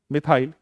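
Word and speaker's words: methyl: तो क्या बन गया प्रोनाउंसिएशन, मिथाइल। मिथाइल क्या हो गया, मिथाइल। METH बोला और वाई एल हर बार जोड़ना है, तो क्या हो गया।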